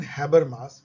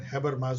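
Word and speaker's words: Habermas: हुर्गन हैबरमास, यस इसका pronunciation हॉ से होता है, हुर्गन हैबरमास, जो कि सेकेंड जनरेशन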